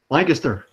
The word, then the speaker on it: Lancaster: That's not how you pronounce it, but yes. Wait, you don't pronounce it Lancaster? I pronounce it No. Lancaster all these. How do you pronounce it? Lancaster. Oh, it's just Lancaster.